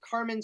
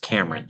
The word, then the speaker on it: Cameron: Um, next question we got Thomas Carmen Stewart. Uh, you can unmute and um feel free to ask your question. Thank you. And it's pronounced Cameron Stewart.